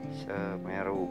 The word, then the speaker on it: Semeru: Nah, seperti ini aksara Sunda ra, gimana dibacanya menjadi ru, kita beri tanda baca panyuku, jadi dibacanya ru ya, Semeru, gunung Semeru.